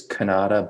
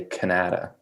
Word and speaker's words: Kanata: so yes it's it's the right way to say it is kanada but out here in ottawa we say canada canada well that's the